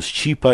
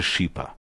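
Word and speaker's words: Schipa: Вместо него пел другой знаменитый итальянский певец, участвующий в фильме «Любимые арии» Тита Скипа. Так его имя произносили по-русски. По-итальянски же оно звучит как-то между Счипа или даже Шипа.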